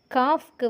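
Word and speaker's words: calf: இந்த காஃப்க்கு வந்து பார்த்திங்கன்னா இங்கே எல் வந்து சைலண்ட், கல்ஃப் வந்து எல் வந்து ப்ரொனவுன்ஸ் பண்ணுறோம்.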